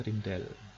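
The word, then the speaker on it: Rijndael: Saya lupa tulisannya bagaimana ya. Bacanya Rindel. Ada orang namanya Rindel.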